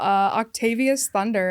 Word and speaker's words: Octavius Thunder: Octavius Thunder, everybody.